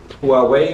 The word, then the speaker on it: Huawei: You got 2 inverters over here, Huawei, or how you pronounce that.